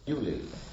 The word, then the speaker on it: Beaulieu: lived in a big home called Bewley. It's spelled Beaulieu, but you know we are the country that produced Monty Python, so you don't expect things to be pronounced how they look.